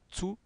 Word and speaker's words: zu: Doch, aber das Restaurant ist zu teuer. Rappelez-vous du Z qui prononce ts, zu, teuer.